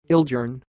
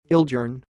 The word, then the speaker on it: Ildjarn: name you are watching it sounds like ill gern ill gern here we go again